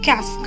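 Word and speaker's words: casque: helmet is also called a cask rhymes with masks like here dots and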